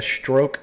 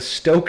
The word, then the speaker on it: Stoke: said that correctly the stroke sentinel ah i'm sorry i did say it wrong it's a stoke scent why aren't you the